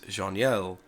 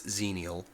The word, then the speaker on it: Xenial: the corect correct pronunciation of zenial and I pronounced it as jeanel um I looked it up and the pronunciation